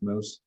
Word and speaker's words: Moes: it's called Moose because my last name is pronounced moose it's dutch and it's not spelled that way but uh we we